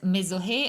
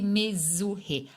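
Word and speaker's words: מזוהה: When somebody says mezohe and you're wondering, is it this or that, or maybe just a bad pronunciation? Well, if we're talking about this here, it should be mezuhe.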